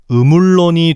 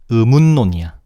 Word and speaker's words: 의문론: 어떻게 발음해야 할까? 당연히 운의 종성 니은이 론의 초성 리을의 영향을 받아서 의물론이 되었다라고 하면 너무 쉽잖아.이 설명은 틀렸어. 의물론이 아니라 의문론이야.